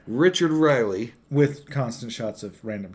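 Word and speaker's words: Riehle: They got in the bus, and Richard, how do you pronounce his last name? Riley.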